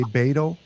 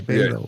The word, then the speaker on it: Beto: It's not hard to say. You just gotta pronounce it out, because it's sounds like people are easier to say Beto, but I'm like, how do you get the E to turn into an A?